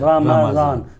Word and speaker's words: رمضان: اچھا رمضان، رمضان نہیں ہے، اچھا، رمضان، میم کے اوپر بھی زبر ہے، زبر ہے.